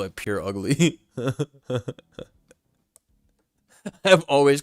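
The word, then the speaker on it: Purugly: I know it's purr like a cat, but I still thought you're supposed to pronounce it pure ugly.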